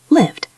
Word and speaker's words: lived: If the word ends in a voiced sound, we pronounce ed as a D sound. Played. Play. D. Repeat. Good. Lived.